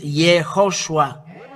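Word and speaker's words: יהושע: The way to read this word is YAHOSHUA.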